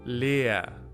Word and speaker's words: leer: This one is pronounced the same way, it's just a bit elongated. Leer, which means empty.